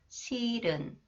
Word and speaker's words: 싫은: Okay, next, when the final consonant 리을, 히읗 is followed by a vowel sound, 히읗 is not pronounced. 실은, 실은.